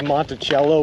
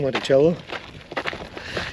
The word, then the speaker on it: Monticello: uh I'm going to spell the city of Monticello with an S the way they pronounce it gross foreign I'm doing